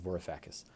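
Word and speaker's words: Varoufakis: Next up is talking to my daughter about the economy or how capitalism works and how it fails by Jiannis Vorifacus. Uh his last name is spelled V A R O U F A K I S.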